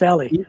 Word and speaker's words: Ellie: I keep pronouncing Eli. It's Ellie. Either way is fine.